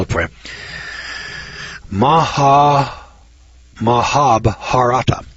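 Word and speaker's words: Mahabharata: and I can't pronounce this word but I'll spell it for Maha mahab harata mahab harata m a h a b h a r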